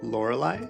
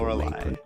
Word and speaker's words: Lorelei: Here we have Lorelei. Probably should have figured out how to pronounce the name of the game before I started. How to pronounce Lorelei. Emphasis is on the last syllable, apparently.